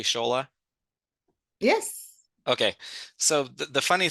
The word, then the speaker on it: Shola: Well, the funny thing is, Shola, am I pronouncing your name correctly, Shola?